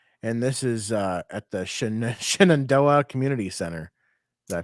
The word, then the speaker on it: Shenandoah: And this is at the Shenandoah Community Center. Did I pronounce that properly? Shenandoah?